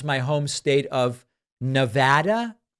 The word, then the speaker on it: Nevada: your stuff but it's it's pronounced Nevada not Nevada I can't seem to get it right and part of the problem is that this is a word that's in Spanish which means a snowstorm NADA NADA and what's